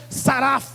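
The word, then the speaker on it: שרף: Porque serafim é uma palavra hebraica que significa, que é pronunciada como saraf.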